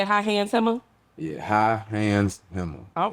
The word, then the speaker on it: High Hands Hemma: Yeah, High Hands Hemma.